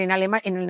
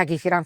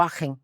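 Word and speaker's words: Aachen: aen aquisgran a ver en en alemán no se dice akran se dice enen o agen vale esa universidad Es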